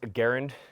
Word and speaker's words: Garand: we going with this so uh it is pronounced Garand that's the Canadian pronunciation we want to put